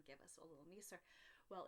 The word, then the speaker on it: nisser: talk about, it's called I think it's a Nisser. I think Nisser is the way that they pronounce it, and they're little little